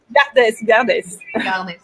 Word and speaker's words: Gardès: Alors, je me suis posé une question, c'est Garde ou Gardès? Parce que la normande que je suis ne prononce pas les dernières lettres des mots. Alors, Gardès.